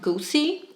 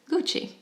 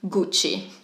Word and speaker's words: Gucci: but just know that it is not Goosey and it's not gooksy it is Gucci or if you want to be very Italian Gucci come on do I